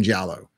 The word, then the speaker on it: giallo: describe it you just got to watch some jello so i'm really excited giallo is spelled g-i-a-l-l-o or l-o but it's g-i-a-l-o that's basically italian horror film italian slashers and the in the formula for the jello films it's a there's normally something going on